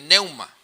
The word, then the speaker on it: pneuma: palabra griega también que se se pronuncia el pneuma el neuman y allí uno dice